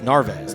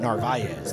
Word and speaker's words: Narvaez: Yeah, we've apparently been told we've been pronouncing it wrong. It's Narvaez, not Narvaez. Narvaez is the Spanish saying of that, so we found that out today.